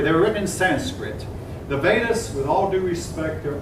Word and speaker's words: Vedas: books called the Vedas it looks like it's Ruby Vitas but I mean I've been corrected on that it's suppose this pronounced Vedas the earliest Veda is